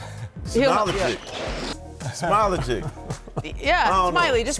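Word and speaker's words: Smailagić: Smailagic.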